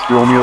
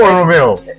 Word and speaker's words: Romeo: Is it Romeo or Romeo? Well, I mean, people pronounce both, but it's Romeo. It's Romeo. Yeah, okay. Like Romeo and Juliet.